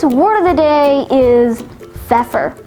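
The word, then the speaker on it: feoffer: cattle in old english fur now feffer has one alternate pronunciation for a phefer is one that grants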